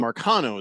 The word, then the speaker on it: Marcano: or something, the Tucapita, and Marcano is how you say it.